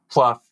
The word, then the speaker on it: Plouffe: your name uh incorrectly so officially it is Cheryl Pluff cherl welcome to the